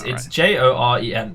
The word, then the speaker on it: Joren: Jorvik. No, it's Joren. I don't want to pronounce it wrong.